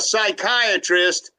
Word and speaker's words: psychiatrist: can't you hear a psychiatrist go to the bathroom why because the P is silent Angie's over here spelling